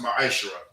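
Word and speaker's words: מעשר: Means 10th in Hebrew, and it's pronounced ma'ashra.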